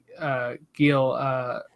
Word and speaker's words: Gil: a 53rd minute Carlos Gil, I guess you pronounce it with the H, right?